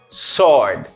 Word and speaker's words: sword: Ou soit je me dis W pas prononcer? Sword.